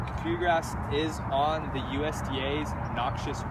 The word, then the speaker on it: kikuyu: This is kikuyu grass, not kick your grass, right? Kikuyu grass. And some people will call it kikuya, but it's pronounced kikuyu grass.